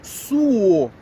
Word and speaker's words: suo: ela ó dona Teresa o ideal é nós falarmos né nós pronunciarmos aí eu suo porque aí tem relação com suor Ok por qu vem do verbo suar com u então quando eu falo soar isso tem relação com som né então a música Soa